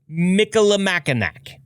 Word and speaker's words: Michilimackinac: In 1715, they founded Fort Michilimackinac on mainland Michigan, which included a silent C pronounced with the AW.